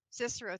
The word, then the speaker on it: Cicero: Cicero. Thank you. I was looking at how do I pronounce that?